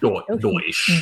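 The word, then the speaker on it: Deutch: Deutsch.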